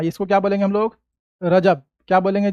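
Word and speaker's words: رجب: महीना उर्दू कैलेंडर का सातवां महीना क्या है रजब उर्दू कैलेंडर का सातवां महीना इसको क्या बोलेंगे हम लोग रजब क्या बोलेंगे जी रजब क्या पढ़ेंगे रजब ठीक है इसके बाद आगे है उर्दू कैलेंडर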